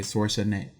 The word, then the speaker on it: Schwarzenegger: Okay, Schwarzenegger. Focus on the A, Schwarzenegger. Like Jaeger, but Jaeger.